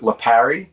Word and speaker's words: Lipari: But in my family, we pronounce it Lipari, but maybe that's a New Jersey thing.